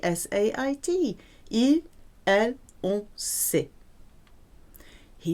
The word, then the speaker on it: sait: It sounds the same as je sais, but spelt with a T, S-A-I-T.